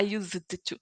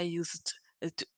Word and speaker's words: used to: When I say used to, I don't try to pronounce the letter D.